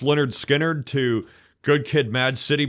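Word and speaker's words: Lynyrd Skynyrd: would be like, it could be anything from, Pronounced Leonard Skinner to Good Kid, Mad City by Kendrick Lamar to like, let me think, Black Sabbath by Black Sabbath.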